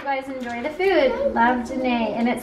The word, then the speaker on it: Janae: And she said, also, if you don't know how to pronounce my name, it's kind of like Janae, which I figured that's what it was.